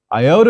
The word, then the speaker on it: iota: Iota is pronounced either as a long E as in feet and police, or a short I as in hit. Please repeat, iota, E, or I.